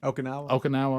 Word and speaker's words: Okinawa: Is it Okinawa? What's in Japan? Okinawa.